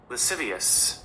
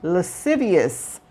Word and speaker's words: lascivious: Lascivious. Okay, and this is how it's pronounced. Lascivious. Lascivious.